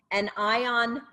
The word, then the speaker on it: an ion: So anion, meaning an ion, so it's a negative